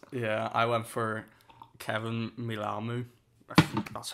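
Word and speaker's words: Mealamu: boy the best yeah i went for kevin milamou that's how you pronounce his name yeah no some of these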